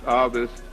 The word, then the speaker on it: Ovist: The Ovist theory, pronounced Ovist, again, was named after the Roman poet and writer, again, of love-making and metaphors, and so Publius Ovidius Naso.